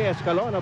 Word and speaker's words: Escalona: and shot clock Mackie Escalona By the way is in the hard C and the hinebra team